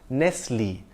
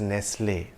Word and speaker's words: Nestlé: founder Henri Nestlé, and his surname has an acute accent on the E at the end, I would pronounce it as Nestlé.